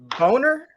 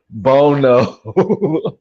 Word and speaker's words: Bono: But hey, Chaz Chaz Boner. Bono. Chaz Bono. Bono. Okay. Okay. I was just making sure you pronounce it wrong.